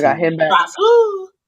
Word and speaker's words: Grasu: I Grasu. got him back. Grasu. You gotta say it like that. Like it's spelled Hronis.